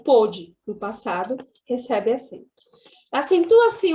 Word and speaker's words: pôde: Então, por exemplo, quando eu conjugo o verbo poder no passado, ele fica pôde. E no presente, pode. Então, para diferenciar essa pronúncia e esse tempo verbal, foi acrescentado o acento circunflexo no O também.